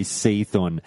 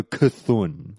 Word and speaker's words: Cthulhu: Cthulhu or Cthulhu or I know some people say Seathorn, and I'm not going to lie, I was one of those people who used to say Seathorn. But you know how we are with pronunciation here. I've got a certain way. If that's not your way, then so be it. But we're going to go with, I think I'll go Cthulhu. Okay, here we go.